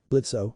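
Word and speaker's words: Blitzø: Blitzo, the O is silent, the imp in charge, ranted furiously.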